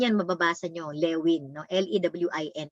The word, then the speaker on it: Lewin: L-E-W-I-N, pero ang pronunciation yan is Lewin because he's a German national na nag-migrate sa US